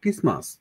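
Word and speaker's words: Christmas: যেমন খ্রিস্টমাস, খ্রিস্টমাসকে আমরা বলতে পারি ক্রিসমাস। এই টি এর কথা বাদ দেন, যেমন খ্রিস্টমাস। এটা যদি আমরা উচ্চারণ করি, একটু মনোযোগ দিন।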